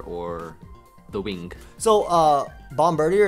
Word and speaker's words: Bombardier: the wing so uh Bombardier is pronounced Bombardier or whatever but I like bomb Burger I just want to let everybody knows there's always a bummer deer Bombardier Bombardier oh it's like French like Bombardier yeah bomber day probably